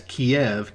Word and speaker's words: Kiev: be referred to as kiev k-i-e-v that is the russian spelling and russian pronunciation of the name the second largest city